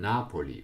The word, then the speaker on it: Napoli: on the first syllable, and Napoli with accent on the first syllable.